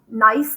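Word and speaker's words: gneiss: um rocks um one's called nice that g is a silent g and then schist kind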